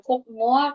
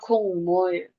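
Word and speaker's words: 국물: Jadi dibacanya bukan kukmul, tapi ini kan kieknya ketemu dengan miam. Jadinya kungmul.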